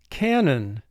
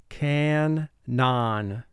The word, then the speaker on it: canon: sounds non three sounds now here's another word where you want the pronunciation of the word to conform to the spelling so we're going to pronounce this word can none we don't have any